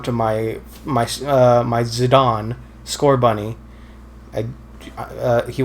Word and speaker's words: Zidane: now scored on zidane zidane zadon like zinedine zidane isn't this zidane uh i think it's pronounced as a don well he is french so they don't pronounce